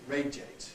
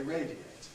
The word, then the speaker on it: radiate: compress the radi to radiate on the other hand is not compressible it has to stay as three syllables because a at that point is strong radiate so you can't say radiate you have to say radiate radio radiant you can